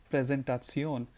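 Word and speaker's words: Präsentation: do you say presentation you just have to say it like a German you'll have to say it like presentaton and PowerPoint you can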